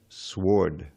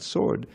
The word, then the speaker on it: sward: Forest haunts, to play in every bower, grove, and sward. Sward, not sword. Sward is a meadow. Yeah, it's a word for meadow. And it rhymes with Lord.